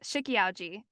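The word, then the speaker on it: Shiki-Ouji: I hope I don't pronounce this wrong. No, I'm not. This is right. Shikiauji.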